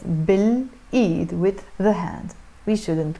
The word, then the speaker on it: بالإيد: B plus L pronounced as بالإيد, with the hand.